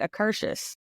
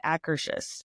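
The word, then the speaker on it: Akershus: because I always said I always said acurus and so we were there one year and I so I went up to him we were GNA ride Frozen and I was like okay how do you say the name of this restaurant because I know I'm saying it wrong and I'm pretty sure she was saying acous so yeah there see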